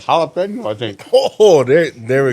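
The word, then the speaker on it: jalapeño: This is like jalapeno, I think. Oh, there we go. Ah, yeah. Jalapeno. No, but Yeah, not jalapeno. yeah, not the ja, the ha. The J is silent on that.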